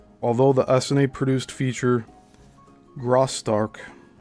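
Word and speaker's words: Graustark: Although the SNA produced feature Graark spelled G R A U S T A R K from 1915 was a smash hit.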